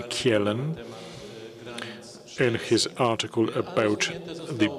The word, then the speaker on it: Kjellén: In 1879, the concept was first used by Rudolf Kjellén. I think that's how you pronounce the Swedish name Kjellén, in his article about